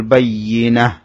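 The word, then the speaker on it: البينة: তা'তিয়াহুমুল বাইয়িনাহ, এখানে বাইয়ি ইয়ার মধ্যে তাসদীদ হলে ইয়া একটু শক্ত হবে। বাইয়িনাহ, তার মধ্যে গোলতার মধ্যে ওয়াকফ করা হয়েছে, সে কারণে গোলতাটা হা হয়ে যাবে।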